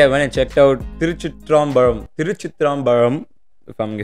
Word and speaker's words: Thiruchitrambalam: So, yesterday I went and checked out Thiruchitrambalam. Thiruchitrambalam. If I'm saying it right, Thiruchitrambalam.